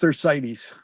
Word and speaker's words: Thersites: It's pronounced Thersites. Thersites. Okay, Yes. Thersites. I have been corrected.